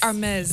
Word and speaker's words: Hermes: Oh, sorry, Hermes. Not the H is silent.